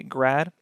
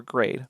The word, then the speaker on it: grad: some people just say grad or grade so you may hear some people pronounce things with g r a d as grad you hear other people pronounce them as grade for gradient either is